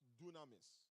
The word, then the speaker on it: dunamis: Some of us have heard that word before, and it is pronounced dunamis.